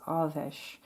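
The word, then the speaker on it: Airmed: So the pronunciation of this goddess is Arvesh.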